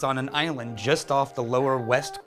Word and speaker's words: Islay: made in Scotland Iowa means it's on an island just off the lower west coast of Scotland just alphaf Campbelltown it's a spelled is la whaai and pronounced isla okay if not Islay or easily or Isley it's Iowa it was where all the most